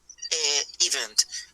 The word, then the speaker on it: event: This is event. Okay, the stressed syllable is the second one.